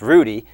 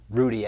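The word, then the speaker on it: Ruddy: Julio Lugo 's brother I believe it's pronounced Rudy Rudy came in to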